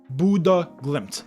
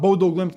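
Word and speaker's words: Bodø/Glimt: And it is pronounced Buddha glimp. Not Bodo glimp, not Bodlim. Buddha glimp.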